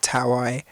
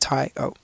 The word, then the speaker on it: Taio: and sometimes I get sometimes I get taai sometimes I get things that I can't even pronounce myself um so I thought I'd help out by uh just calling the album the phonetic pronunciation so just tie oh I'd say the sound